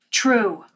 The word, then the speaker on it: Trve: True. Pronounced true.